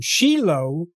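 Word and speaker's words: Shiloh: And the place name Sheilo. Yeah. We pronounce it O at the end, but it's written with a hey.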